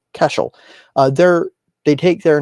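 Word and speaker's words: Caiseal: up we have uh Cashel beer and Spirits yes that's how you pronounce c a i s e a l casel uh they're they take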